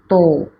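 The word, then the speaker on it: 十: Kemudian kanji nomor 6 yaitu roku, atau juga bisa dibaca mutsu, 6 buah.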